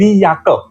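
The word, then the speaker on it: Jacke: लेकिन इसका प्रोनंसिएशन उसको बोला जाता है य। और जर्मन लैंग्वेज में मोस्टली जे जो होगा उसको बोला जाएगा य।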